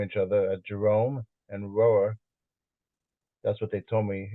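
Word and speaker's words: Rohwer: other at Jerome and rower that's what they told me is the correct pronunciation that's sort of almost like one syllable and the the national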